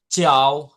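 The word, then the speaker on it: ciao: এইযে দিয়া কি বলেছিলাম চাও চাও চাও হ্যা এটা চাও হবে চাও চাও মানে আপনি যখন ধরেন একজনের সাথে আপনার সমবয়সী কারো সাথে ইতালিতে আপনার দেখা হলো তখন আপনি কিভাবে বলবেন তাকে কি বলবেন চাও চাও চাও অথবা আপনাদের চাও বলবেন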